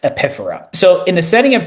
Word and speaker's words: epiphora: It's called epiphora. It looks like it's spelled epiphora, pronounced epiphora.